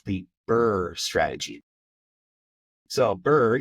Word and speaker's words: BRRRR: So BRRRR, you can think of like being cold, BRRRR. It sounds like it's spelled, but with a couple extra R's.